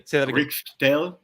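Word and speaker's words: Rkatsiteli: Riccatelli.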